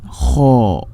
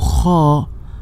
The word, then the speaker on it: خ: So Kha, this is a heavy letter. So in Arabic we have 7 heavy letters. These letters we collected in phrase خص ضغط قض. So when you pronounce these letters, you will fold your mouth by the letter and you will elevate your posterior part of the tongue towards the roof.